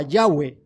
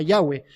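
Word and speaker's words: Yahvé: se quedan ahí y algunos eruditos dicen que es muy probable que la pronunciación fuera algo parecido a yagüe quizás fuera algo parecido a yagüe luego con el pasar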